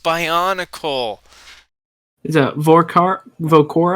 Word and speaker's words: Bionicle: guys it's guys guys it's pronounced by on a call the vorc are vogue